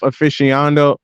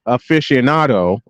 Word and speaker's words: aficionado: as much of a golf aficional Aficionado I keep pronouncing that word wrong I'm sorry as I